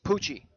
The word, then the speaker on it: Poochie: Poochie, right? Poochie. Okay, so like a CH sound.